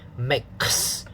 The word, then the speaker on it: mix: attention to the ipa the x sound is actually a ks sound mix so let's practice mix